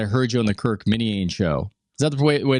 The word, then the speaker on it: Minihane: Now, you gave an interesting explanation because I heard you on the Kirk Minihane show. Is that the way to pronounce it properly? Minahan.